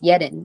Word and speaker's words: Yerin: from um Austria and he actually says yetin and it's really cool how he says it almost with that like staccato tone that is very similar to how it's kind of pronounced in Korean in but you know other than that if people just call me yarn um that's totally fine as well I I've never really